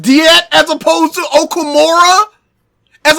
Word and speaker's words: Diet: by germany and japan the game in english pronounces it as diet i had no idea